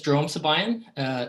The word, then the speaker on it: Jerome Sibayan: Okay, so my name is Jerome Sibayan. That's how it's pronounced.